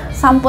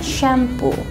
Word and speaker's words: shampoo: Kalau bahasa Indonesia tuh kita bilangnya ya shampoo gitu ya. Kalau bahasa Inggris itu kita bilangnya shampoo. Shampoo. Jadi bukan sampo pakai o tapi pakai u lebih tepatnya.